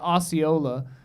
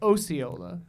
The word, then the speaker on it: Osceola: There's a town by my hometown called, we call it Osceola in Wisconsin. And then there's a town in Iowa called Osceola, spelled the same, but they say Osceola.